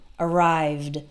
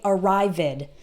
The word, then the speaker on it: arrived: this sound and we the e d sounds like d arrived arrived but we don't add an extra syllable so don't say arrived it ok that's not correct we only add an